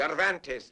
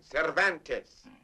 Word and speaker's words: Cervantes: Donkey Hoke by the Spaniard whose name is practically impossible to pronounce. Cvantes man. Cervantes.